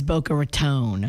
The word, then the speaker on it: Boca Raton: The right way to say it is Boca Raton.